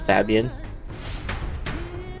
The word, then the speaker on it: Fabienne: it's Fabian. Fabian. There's no E, and it's spelled with an A, and I'm like, cool.